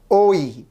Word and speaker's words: ঐ: এখন এই ওই শব্দটির লিখিত রূপ হচ্ছে অ যোগ ই কিন্তু এটির উচ্চারণ রূপ হচ্ছে ও যোগ ই ওই ঐ ঐ দিয়ে কি পাই?